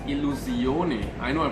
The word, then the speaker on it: Illusione: rather unfamiliar with the brand it is actually pronounced Alou Sione I know I pronounced it with a French